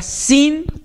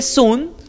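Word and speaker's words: σύν: La palabra griega sin o sun. Se escribe sun, algunos lo pronuncian sin, algunos lo pronuncian sun.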